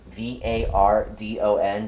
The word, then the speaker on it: Vardon: And I just realized I pronounced your name wrong. It's Vardon, Vardon.